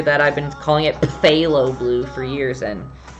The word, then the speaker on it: phthalo: and like cinderella says phthalo blue because i learned 40 years later that i've been calling it phthalo blue for years and the p is silent so i'm actually going